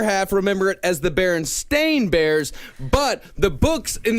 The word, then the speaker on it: Berenstain: Is it Berenstein or Berenstain? Berenstein Bears. It's the Berenstein Bears. Berenstein Bears. Yeah, they're Jewish. No, it is not. It is Berenstain Bears. It is spelled Berenstain.